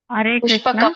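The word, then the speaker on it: ಪುಷ್ಪಕೌ: ಯಾರ ಹೆಸರು ಹೇಳಿ ಪುಷ್ಪಕ ಆಗಬೇಕು ಮಾತಾಜಿ ಹಿಂದೆ ಯಾರು ಹೇಳಿದ್ರಲ್ಲ ಅವರು ನೋಡಿ ಅದನ್ನ ಕರೆಕ್ಷನ್ ಮಾಡಿಕೊಳ್ಳಿ ಸುಕೋಶ ಮಣಿ ಪುಷ್ಪಕ ಅಂತ ಆಗಬೇಕು ಮಣಿ ಪುಷ್ಪಗ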